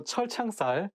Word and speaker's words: 철창살: So 철창살, it also has two CH sounds, so it should be not easy to pronounce.